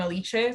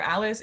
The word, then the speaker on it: Alice: uh oh like my my name i pronounced my name alicia so at least you're alice either or oh alicia that's that's how we pronounce your first name yeah but it's fine